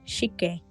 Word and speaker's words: Shike: Of course, you're actually meant to read the characters as Shike, which was the name of a place around here. All locals pronounced and spelled it like that, without batting an eyelid.